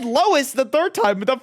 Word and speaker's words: Lois: They all say Lois. They all say it. They tell you how to pronounce it from the first episode. And you're like, Lewis Griffin.